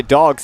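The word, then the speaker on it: Dawgs: There's a strike on the outside corner, and to clarify, Dogs is spelled D-A-W-G-S. Dogs. So, yeah, like that kind of dogs.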